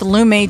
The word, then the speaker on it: Lume: but you can control body odor anywhere with lumay deodorant that's spelled l-u-m-e and you'll get five dollars off